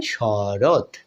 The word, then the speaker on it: শরৎ: যোগ করলে কি পাই শরৎ কি পাই শরৎ তাহলে এখানে ত এর অ স্বরধ্বনিটা উচ্চারণ হয় নাই যার কারণে বন্ধুরা বলছি